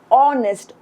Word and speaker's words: honest: But if we pronounce this word, which is honest, we don't pronounce it like honest. We pronounce it honest, or, which is, the vowel sound.